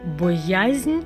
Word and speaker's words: боязнь: мене охопила думати про боязнь ніколи у тебе немає боязні у серці керувати бояззю важливо для будь-кого боязне не перешкоджає мені підсумовуємо наголос падає на другий склад вживаємо тільки в